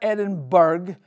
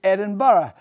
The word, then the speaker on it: Edinburgh: G is glass go it's not Edinburg it's Edinburgh so before that that's